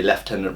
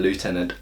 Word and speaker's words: Lieutenant: for the fact that in Britain we say left tenant rather than Lieutenant as well but to conclude I would say that by and large the British are wrong um because it's a French word and if you're spelling